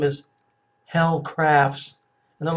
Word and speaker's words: Helle: name her name is Helle crafts and I'm like oh it's pronounced hailey okay okay where you can